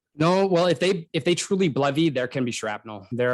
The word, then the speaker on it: BLEVE: Can you spell it? Blevy?